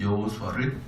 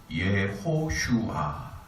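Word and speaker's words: יהושע: 그래서 여호수아라 그랬고, 이 여호수아를 성경 뒤편 느헤미야서에서는 여호수아를 예수와라고 표현해요. 여호수아 또는 예수와라고 표현하기도 하고, 또 민수기 신명기에서는 호세아 이렇게 했습니다. 여호수아, 예수와 호세아 이렇게 하는데, 실제로 이제 히브리 원어로 발음할 때는 예호슈아 이렇게 표현합니다.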